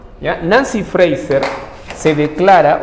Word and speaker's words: Fraser: su país ya entonces friser valer a Ros ya Fraser se escribe es Fraser friser es mujer Nancy Nancy friser ya Nancy freiser se declara o se